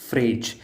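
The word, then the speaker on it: Phryge: इस रेवोल्यूशन में एक चीज़ फेमस हुई थी जो थी रेड फ्रीजियन कैप एंड इसी को फ्रांस ने अपना मैस्कट बनाया। एंड इसकी प्रोनाउंसिएशन फ्रेज ही होती है, इसको फ्रिज मत बोलना।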